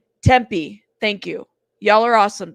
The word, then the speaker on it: Tempe: others it's true um is it tempy pronounced Temper Temper okay days later I